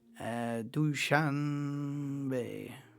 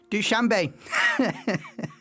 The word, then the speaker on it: Dushanbe: Dushanbe. Pronunciation. Dushanbe, I think. Dushanbe.